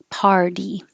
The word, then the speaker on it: party: in cards and car party the T changes to a d because it's between two voiced sounds ER and E and it's in the unstressed syllable this is here as